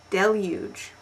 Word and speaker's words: deluge: diasis it's a diasis deluge Deluge is a good one um I have always said delu and I've heard people say Deluge usually newscasters or people